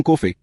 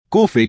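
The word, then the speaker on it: Coffey: John Kofey dona. Kofei como que se bebe com leite. É dona, só que se escreve diferente.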